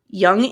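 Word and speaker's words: Jungian: is struggling so he decides to write his young analyst spelled j u n j u n g i a n it's pronounced y like the word it's Yung but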